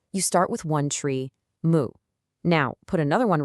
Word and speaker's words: 木: Okay, so meet our hero, the character Moo, which is pronounced moo.